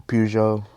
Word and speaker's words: Peugeot: Um, and a bunch of other like hyper cars like a Peugeot, I think, and a bunch of other stuff or Pujo. See, that's how you say it.